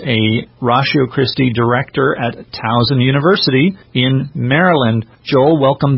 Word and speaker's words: Towson: Well, did I pronounce Towson right? Yes, Towson.